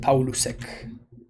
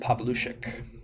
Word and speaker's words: Paulusek: paulusek in argentina yes i used to pronounce it paul lusek but canister taught me that it's actually pronounced pavlushik dude see some powers kind